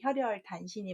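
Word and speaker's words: 혈혈단신: 없는 아이 외로운 사람입니다 우리가 보통 혼자 있는 사람들을 홀홀 단신이라고 잘못 발음하는데 혈혈 단신이 맞습니다 그때 혈혈 외롭게 외롭게 홀몸이다라고 할 때 호롤이 아니라 혈혈입니다 마취로 자는 어떤 종료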